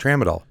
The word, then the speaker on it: tramadol: Tramadol. Tramadol. That starts with a T. Just for the record, Yeah. T, not a P. Like, P. Yeah. The P is silent. T.